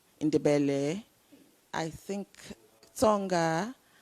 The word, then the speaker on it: Tonga: i don't think i'll forget tonga because there's a song that says it rhymes with corner so it's 12 now it's 12.